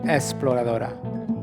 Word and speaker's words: exploradora: Okay, I always have a hard time with the EX. Is it X or is it Exploradora? Exploradora.